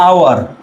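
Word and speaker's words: hour: না আওয়ার এটার উচ্চারণ কি আওয়ার আওয়ার না আওয়ার এ উচ্চারণ বলেন হাওয়ার না আওয়ার আওয়ার এই উচ্চারণ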